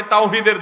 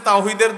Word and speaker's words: তাওহীদ: হেজবুত তাওহীদ মানে তাওহীদের দল। কিন্তু আপনি যদি জিজ্ঞাসা করেন তাওহীদ শব্দটা শুদ্ধ উচ্চারণে একটু বলেন। আরবিতে তাওহীদ এ হা যথাস্থান থেকে উচ্চারণ সঠিকভাবে তাদের শতকরা কয়জন করতে পারবে?